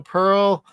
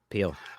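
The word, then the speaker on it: Pehl: Mary Jo Pearl. Peel. I apologize. Peel. Thank you. I never say it right, and you're gonna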